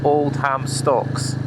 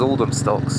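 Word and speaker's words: Oldhamstocks: through to oldum stocks which is written as you pronounce it Old Ham stocks one word but locally it's known as Olden stocks and I've been through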